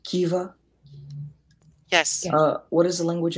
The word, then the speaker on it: kiva: Kiva. Kiva. Am I pronouncing that correctly?